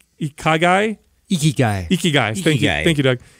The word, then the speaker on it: Ikigai: And in that culture over there, there's something called the it's spelled I-K-I-G-A-I, Ikigai.